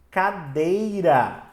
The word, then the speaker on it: cadeira: Assim como a palavra cadeira é uma palavra paroxítona. Por quê? Porque a sílaba mais forte dela é o dei, cadeira.